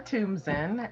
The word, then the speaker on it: Thumbtzen: how to um tell the audience how to pronounce that beautiful last french last name okay okay well my name is toomson and most people call me my friends